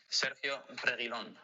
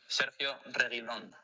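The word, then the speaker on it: Sergio Reguilón: Hi fans, this is how to pronounce my name. Sergio Reguilon. What? Hi fans, this is how to pronounce my name. Sergio Reguilon.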